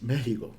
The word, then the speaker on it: México: arena si estás mirando nos enseñó a pronunciar méxico algún día te abandona esta decencia no es una foto es una x es méxico pero bien entonces para